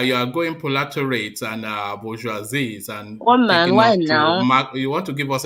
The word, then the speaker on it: bourgeoisie: It has three syllables. It's bo, hi, joie, zis. So One man. bourgeoisies.